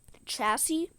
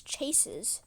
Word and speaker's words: chassis: So like the lady um and then another example is the chassis and uh if you don't know that's that's c h a ss i s and um she said it as chases chassis chass chassis chass cha chassie she like